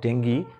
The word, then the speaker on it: dengue: Outbreak of ডেঙ্গি, English উচ্চারণটা ডেঙ্গি, কিন্তু বাংলায় ডেঙ্গু।